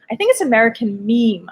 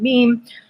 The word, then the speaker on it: Meme: We're talking about the Netflix documentary called American Meme. I think I was saying American Mem in the last episode, but I think it's pronounced American Meme.